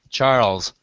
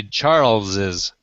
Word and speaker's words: Charles': that one um Karen the S without the additional s is pronounced Charles just the same way the name is but the tendency when people are pronouncing names like that is to say Charles's and so the then